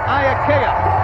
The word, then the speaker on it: Iaukea: It's pronounced Iaukea.